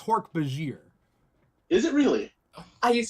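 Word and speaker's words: Hork-Bajir: By the way, like, you say one Hork Badger, right? Yeah. Because it's funny because this book series has so many alien words that like everybody like mispronounces or whatever, because like that's what you do when you read it, right? I do think it's Hork Bajir.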